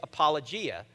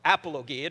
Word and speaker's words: apologia: And the word that is used there, it actually says give a defense, in Greek means or is apologia or apologia, depending upon how you pronounce it.